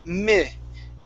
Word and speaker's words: minute: Instead of minute, okay, with a short E, it's minute.